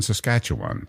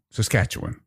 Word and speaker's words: Saskatchewan: know this I yes I grew up in Saskatchewan um see I didn't say it correctly did I yeah Saskatchewan okay Saskatchewan Eastern Canadians call it Saskatchewan and